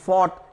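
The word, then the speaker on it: fought: होता है एफ ओ यू जी ह टी फोर्ट यहां पर बिजी है साइलेंट होता है इसका उच्चारण नहीं होता फोर्थ यानी लड़ा फाइट यानी लड़ना और फोर्ट यानी लड़ा इसी तरह से यह शब्द हमने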